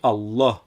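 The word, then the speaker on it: الله: ces lettres par exemple pour Allah on dit Allah en appuyant sur le l comme il y a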